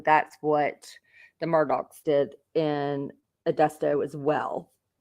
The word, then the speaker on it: Murdaugh: how do we pronounce Murdoch then your boat pulls up to a dock yep I said dick